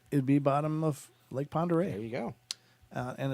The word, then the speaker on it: Pend Oreille: Well, they didn't mention the Pend Oreille Paddler.